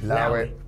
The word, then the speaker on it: allow it: Now, allow it, you actually pronounce it without the A, so you just say, allow it.